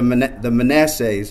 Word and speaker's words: Manasseh: We just want to come alongside you and help you produce these leaders who will be the next generation, or the Manassehs.